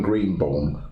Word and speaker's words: Greenbaum: Well, obviously Doctor and the Medics sang a cover of it, but it was Norman Greenbaum. How do you pronounce that pen?